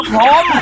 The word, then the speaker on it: พรหม: ทำ ยัง ไง อ่ะ มัน ไม่ ใช่ พรม นะ มัน มี หอ หีบ ก่อน เ ก็ พร พร ห อ่าน ว่า พรหม ถ้า พรหม แบบ ไม่